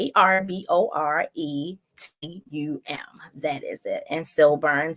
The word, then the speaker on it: Arboretum: But it's Arboretum.